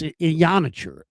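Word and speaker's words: Iheanachor: And it's Ionacher. That's how it's pronounced. And Ionacher?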